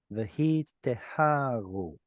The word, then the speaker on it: והיטהרו: I guess the stress would have to go here, wouldn't it? Vahi teharu, because of that little symbol right there.